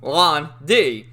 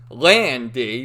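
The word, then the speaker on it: Lan Di: right and pretty much every character calls him lon d but there's another character who we meet later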